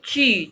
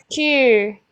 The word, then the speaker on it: 去: ini QU bukan cu ya, tapi ci coba. 去 Betul.